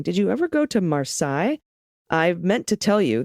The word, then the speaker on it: Marseille: you ever go to marsai i meant to tell you that you pronounced it like versailles when it's simply marseille see i did it